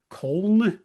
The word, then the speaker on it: Köln: He was actually playing in Köln, I believe is how you actually pronounce it, the city in Germany, which I always appreciated he alludes to in this song, here in Cologne. I know I said it wrong.